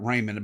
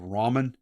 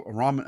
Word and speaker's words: ramen: pronunciation of it but I always called it Raymond but I think the actual proper one's called Ramen um anyway they decid to open up a restaurant Ramen a ra Ramen a noodle shop uh